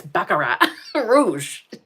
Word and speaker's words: Baccarat Rouge: It took me forever to figure out that it's Baccarat Rouge.